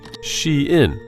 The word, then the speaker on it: SHEIN: fast fashion Chinese Behemoth pronounced she in in the city of Nanjing in 2008.